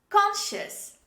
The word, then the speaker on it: conscious: conscious say with me conscious this is not functions the second letter c is dropped when we say this word the next word this